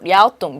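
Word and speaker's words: 랴오둥: 그래서 요동반도를 향해 있다는 뜻으로 우리가 바로 중국 발음 그대로 랴오뚱, 요동이 랴오뚱 방향 뜻으로 랴오뚱 방향의 지질 구조선이 그입니다.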